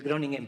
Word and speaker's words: Groningen: Estudió química en la Universidad de Groningen, o sea, se escribe Groningen, pero la pronunciación es como una geada, Groningen.